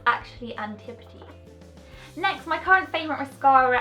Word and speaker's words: Antipodes: And next is the Antipodes Skin Brightening Translucent Powder, and I tend to use this as a setting powder for my concealer and my concealer basically.